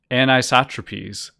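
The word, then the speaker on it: Anisotropies: Instead, he saw the possible and then confirmed comet while reviewing images captured by the Solar, Wind, and this word is pronounced anisotropes instrument aboard the Solar and Heliospheric Observatory called SOHO, a spacecraft overseen by NASA and the European Space Agency.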